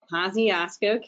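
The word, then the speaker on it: Kosciusko: at, Jeff, can you remind me of the pronunciation there? Kosciuszko County, thank you very much.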